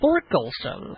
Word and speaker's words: Thorkelson: actually was Peter hon thorkelson well actually the H is silent it's Olen no oh